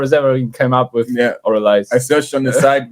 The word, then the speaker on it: Avralize: yeah the the name of the band is aiz am I saying that right it's actually pronounced oriz the after the the first a is um